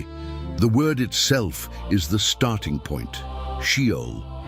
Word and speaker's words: Sheol: Shol. Three consonants in the original Hebrew pronounced she o appearing across 16 different books of the Old Testament.